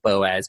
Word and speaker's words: Boaz: his last name because it's spelled Boaz the same as the guy in the Bible Boaz but apparently insists on it being pronounced Bose so I'm not going